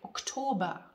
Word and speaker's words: Oktober: The Germans don't really pronounce the R at the end in this case, like Oktober. They don't say Oktober. We say Oktober. I pronounce the R in the end, and most dialects do as well.